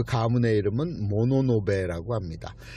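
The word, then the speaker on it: 物部: 그 가문의 이름은 모노노베라고 합니다. 물건 할 때 물자를 쓰고, 무슨 부, 외교부, 외무부, 경제통상부, 이런 거 할 때 붙여서 물부 해서 읽기는 모노노베라고 읽습니다.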